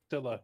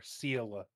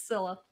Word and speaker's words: Scylla: It's just Scylla with a silent C. Or Scylla. Pretty fast boat. It's Scylla.